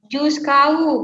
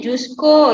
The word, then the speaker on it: jusqu'au: Terus tadi Juskau, bacanya Jusko ya Salsabila.